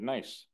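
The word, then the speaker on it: gneiss: of ancient rocks such as marble granite and nice some of the oldest rocks on Earth by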